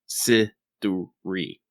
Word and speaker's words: Siduri: Let me give you 3 fucking syllables right here. Siduri. Give me Siduri!